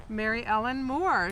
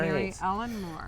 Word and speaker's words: Mary Elin Moore: Mary Elin Moore, kind of like Mary Tyler Moore, but Right. Mary Elin Moore.